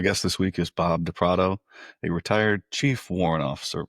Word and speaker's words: DePrato: Yeah, Bob DePrato. That's right. DePrato.